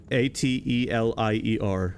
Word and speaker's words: Atelier: The name of the game is Atelier Riza. A-T-E-L-I-E-R.